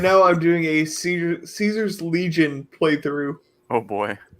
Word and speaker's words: Caesar: kis I hate the I hate the use of kaisar it's Cesar love it it's so good it's it's the classical Latin pronunciation apparently yes it's the real pronunciation stop being Moroccan and